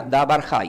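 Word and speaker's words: דבר חי: Se pronuncia davar hay. Cuando uno dice davar hay, está diciendo palabra viva.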